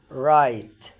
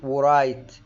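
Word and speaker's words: write: حرف الدبليو انتوا عارفين ان هو بينطق واو، لو جه وراه حرف الار الدبليو لا تنطق، زي كلمة رايت. رايت ما بقولش ورايت، رايت.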